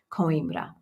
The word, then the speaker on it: Coimbra: very very beautiful so that's coimbra it's it's spelled like like coins c-o-i-m and then b-r-a coimbra um all right did we do it did